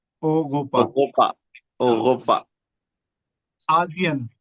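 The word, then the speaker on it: Asien: हैं ओगोपा ओगोपा ओगोपा आयन एशिया को हम बोलते हैं आयन आप ये भी कह सकते हैं आयन मैं आयन आयन में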